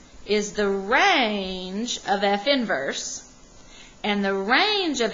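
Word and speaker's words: f⁻¹: after the negative one but it really is pronounced f inverse then the domain of F inverse will have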